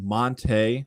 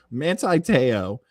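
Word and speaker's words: Manti Te'o: has released the trailer i always want to call monte like the fish monte teow i would say his first name wrong i feel like even saying it right there didn't sound manti because mantis the fish we'll go with manti manti teo uh his documentary about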